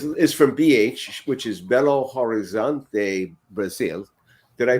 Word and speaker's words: Belo Horizonte: happened fatty is is from bh which is belo horizonte brazil did i pronounce that right or even close yeah yes